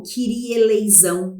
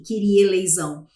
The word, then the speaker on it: Kyrie eleison: Os serafins, no meio, entoam em Kyrie eleison, ou Kyrie eleison, né? Mas, enfim, a pronúncia seria a mesma, mas ele coloca de